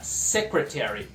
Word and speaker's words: secretary: No escritório a gente tem secretary, secretária, secretary. A sílaba tônica é a primeira, secretary.